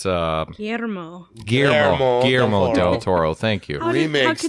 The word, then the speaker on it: Guillermo: It's Guillermo Del Toro.